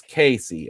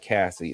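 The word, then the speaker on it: Caissie: Is his name pronounced Casey or Cassie? I don't know that officially. To baseball reference. Casey. It's Casey. All right. It's not Cassie. It's Casey.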